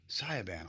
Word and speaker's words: Sayaban: Good morning to I want to make sure I pronounce this right. Sayaban, almost like Autobahn.